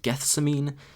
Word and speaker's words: Gethsemane: They've released a single, I think it's pronounced Gethsemane.